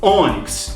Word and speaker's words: ônix: Pensa comigo, eu sei que ela é uma paroxítona porque eu falo ônix, ó, o O é o mais forte, é a penúltima sílaba.